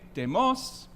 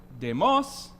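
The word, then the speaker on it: δημός: Well, if you pronounce that demos, you mean the people. If you say demos with the accent on the last word, and these are tone accents, more like the Swedish chef than like our accents. If you say demos, you say fat, not the people.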